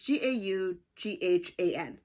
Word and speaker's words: Gaughan: That was called Perennial by Nora Gauguin, I think, or Gohan. Or maybe it's Goffin. It's Gaughan.